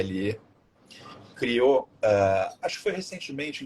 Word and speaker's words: Bridle: E um cara incrível, chamado James, acho que é Bridle, a pronúncia correta, que é Bridle, criou, acho que foi